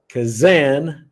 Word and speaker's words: Kazan: So Gabriel Kazan, rhymes with Shazam, is a rogue therapist,